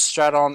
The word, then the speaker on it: Stratton: It's Stratton, or actually Stratton, if you know. Hello, it's pronounced Stratto, Mitch.